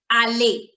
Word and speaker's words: aller: verb is which means to go to go alay and how do we do the conjugation so basically the pronunciation of the conjugation of the verb alley